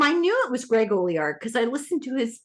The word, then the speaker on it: Olear: I always said Greg Olear. Okay. Yeah, he when I first met him, I knew it was Greg Olear because I listened to his podcast, and he was saying, now it's not apostrophe.